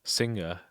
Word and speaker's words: Singa: on one composer by the name Singa, which is just sing with an A at the end.